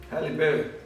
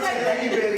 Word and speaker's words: Halle Berry: Don't say it like that. You have to You say can't it say like Halle Berry. It doesn't Nee, work. dat is Halle jy. Berry. Yeah, drop your chin.